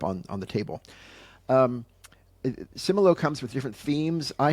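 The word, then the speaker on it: Similo: number 10 number 10 my number 10 is simolo simolo is spelled s i m i l o do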